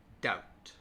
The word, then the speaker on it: doubt: Climb, debt, doubt.